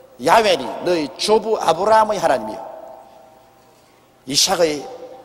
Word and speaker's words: 야훼: 여호와란 말은 원래 올바른 히브리어 발음은 야훼입니다. 야훼란 발음이 우리 한국식으로 번역해서 여호와라 하는데 원래 정확한 발음은 야훼 하나님이신 것입니다. 그러므로 사닥다리 위에 야훼 하나님이 서 계셨습니다.